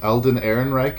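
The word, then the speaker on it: Alden Ehrenreich: Defender it's one major misstep I think it's Aaron Reich Elden Aaron Reich is how you say his name uh like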